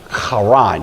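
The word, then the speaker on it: Haran: to a city called Karan. H A R A N. It looks like heron. It's usually pronounced Karan. You have to kind of growl the H there.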